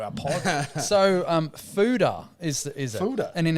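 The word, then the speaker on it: foeder: Fooder.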